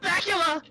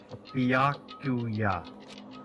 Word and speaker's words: Byakuya: Ah, Bacula! Bacula. Can anyone pronounce my name right? It's Byakuya.